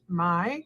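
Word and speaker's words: Mai: you pronounce that kais m-a-i i might assume that's pronounced my so it gives us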